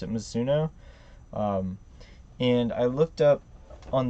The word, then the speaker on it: Mizuno: huge stitching, and it said, I believe you pronounce it Mizuno.